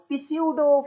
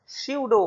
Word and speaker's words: pseudo: वो ऐसे स्पेलिंग के हिसाब से बोले तो पिस्यूडो first order, but इट इज स्यूडो first order reaction.